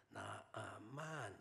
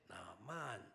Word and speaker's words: 나아만: 물론 우리는 나만 이렇게 하면 이제 우리 어감으로 들리지만 원래의 발음은 나만 이렇게 불러야 나아만이 네라고 대답을 한다면 우리 나아만 이렇게 부르면은 저 누구 부르나 이렇게 되는데 나아만 이렇게 불러야 된다고 그래요.